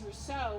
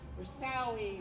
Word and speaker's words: Russo: And I have to tell you that I totally get it, because my name is Russo, which is French, but I get called Ms. Roussoui, Russoui, etc.